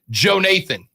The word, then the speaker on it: Jonathan: name whose name is also Jonathan, but with a long O, and the second part is said like Nathan, so Joe Nathan.